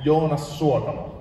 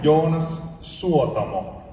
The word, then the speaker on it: Jonas Suotamo: Jonas Suotamo. Okay. You pronounce every word in Finland. There's no Finnish has no silent letters. No. We don't silence our letters. We went off. Every letter counts.